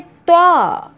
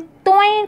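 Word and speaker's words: ط: और उसी से कुरान में त्वा, त्वा जिसको उर्दू में तोएं कुछ लोग कहते हैं, तोएं। सही प्रोनाउंसिएशन करिए। अरबी आप पढ़िए, अरबी के जैसे आप पढ़िए त्वा, त्वा।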